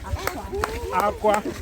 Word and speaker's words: akwa: So try to pronounce the word AKWA with high. Aqua. So that is cry.